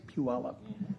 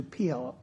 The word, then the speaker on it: Puyallup: That song reminds me that that's how people learn how to say puallup as opposed to pelop. A lot of people pronounce it wrong.